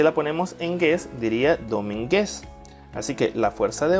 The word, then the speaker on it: Domínguez: las sílabas 2010 ahora vamos a identificar cuál es la que tiene la mayor fuerza de voz si lo ponemos en dos diría domínguez si lo ponemos en mí diría domínguez y si la ponemos